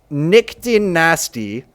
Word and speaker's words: nyctinasty: It's like nyctinasty, and it's literally pronounced like the word nasty.